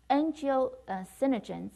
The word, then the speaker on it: angiotensinogen: Angiotensinogens is converted to, so angiotensin sinogens, right? Angiotensin sinogen, did I say it wrong? Angiotensinogen.